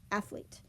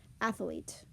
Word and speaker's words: athlete: Athlete, when spoken clearly and concisely, we can say athlete. But when we're talking, oftentimes it comes out as athlete. Athlete.